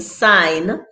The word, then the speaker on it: sign: examples guys this says g has no business being in sign nor phlegm as far as the modern